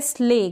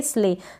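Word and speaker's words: slay: तो SL का अपना कॉम्बिनेशन होता है, स्ल होता है, L से पहले जो S है उसको हम आधा प्रोनाउंस करेंगे, स्ले, सले नहीं पढ़ेंगे, स्ले पढ़ेंगे।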